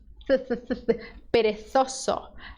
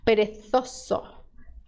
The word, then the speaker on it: perezoso: Na Espanha acontece o fenômeno linguístico chamado el ceceo, que é quando eles veem a letra Z, eles fazem perezoso, perezoso. Se você quer o sotaque de lá, aí você faz esse som.